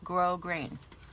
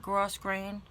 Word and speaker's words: grosgrain: This is how you say this word, grosgrain, not gross grain. This is not an opinion. This is a fact.